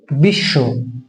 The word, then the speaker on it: বিশ্ব: আমাদের ক্লিয়ার হয় যেমন আমরা লিখি বিশ্ব উচ্চারণটা হয় বিশ্ব আমরা লিখি বিশ্ব এই ব টা কিন্তু উচ্চারণ করি না তাহলে আমি আগে বলেছি